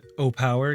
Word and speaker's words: Owepowe: Going to be looking at the uh well, they told me they pronounced their brand O Power, give or take, but I like to call it Awei Powi, the way it's uh spelled.